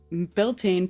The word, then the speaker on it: Beltane: Beltane, pronounced Beltane, means bright fire in